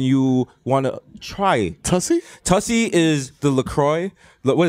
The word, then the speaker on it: Tussy: Is it spelled like pussy but with a T? I think so.